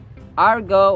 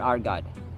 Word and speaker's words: argot: as they speak unperturbed Argo or Argot we have two acceptable pronunciations By the way Argo or ar God yada yada skinner skinner